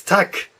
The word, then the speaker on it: Tag: and this word is not tagged it's tuk tuk with a good K sound right there okay very